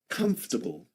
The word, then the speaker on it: comfortable: Three syllables. Comable. Comfortable. There we go. That's comfortable. Comfortable.